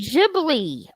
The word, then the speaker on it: Ghibli: mean she's like yeah do you watch Studio jiggly yet oh you need Ghibli it's not crazy for a second there I